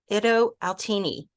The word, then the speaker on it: Itto Outini: have a very special guest with me today Ido altini hi and welcome hi Laura thank you so